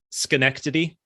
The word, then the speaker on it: Schenectady: They actually came here to Schenectady, which is the actual town I live in, which is just Albany adjacent. Hold on. How do you say that? How do you say that? Schenectady.